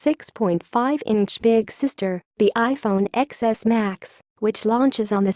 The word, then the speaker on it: iPhone XS: X Max, tell your eyes to stop. It's the iPhone Xs and Xs Max. Don't worry, we've been saying it wrong all week too.